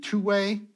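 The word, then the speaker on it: Thue: in in nomenclature for example um the mathematician two-way which is how his name is pronounced I've been told the system of computation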